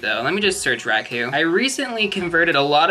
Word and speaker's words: Raikou: Or some may pronounce it Raikou. I think Raikou is the correct pronunciation, but I've just been calling it Raikou for so long.